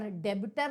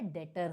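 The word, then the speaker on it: debtor: यह फ्रेट है और डेबिटर नहीं होता है डेटर होता है समझ में आया और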